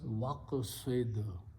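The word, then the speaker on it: وَاقْصِدْ: Okay, and then when you put a waw in the beginning, which means and, you do not pronounce alif, it becomes hamzatul wasl, so it becomes waqsid, and be moderate.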